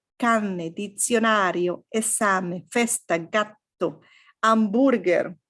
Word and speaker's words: hamburger: dizionario, esame, festa, gatto, hamburger, right? No H. Well, no sound for H.